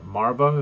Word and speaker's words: Marva: Then we have Cassian goes home where Marva, is that how we're Yeah, pronouncing her Marvel, name?